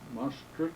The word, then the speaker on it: Maastricht: Maastricht, is that the pronunciation? Maastricht, yes.